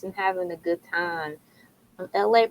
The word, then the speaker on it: ELAY: LA, pronounced like LA, like the city.